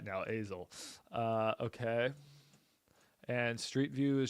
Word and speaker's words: Azle: I'm saying it right now, Azle.